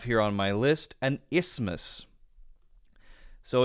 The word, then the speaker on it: isthmus: on my list and isthmus so it's pronounced Isthmus and people sometimes put the th there is thus or they just say Isthmus and they don't really pronounce the th so in Isthmus as